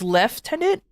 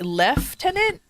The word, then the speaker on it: lieutenant: technically makes sense because you do spell in lie. Like for example, if you use the word Lou in a way is like in lie of something. Over here is left tenant. Really? Man, English is weird in all aspects of the world. English is funny. So, is left tenant wait leftenant or left?